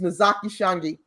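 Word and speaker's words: Ntozake Shange: Notazake Shange. I can't even pronounce her name. Her name is Nozaki Shange.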